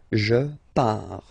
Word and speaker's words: pars: So final S not pronounced. Je pars.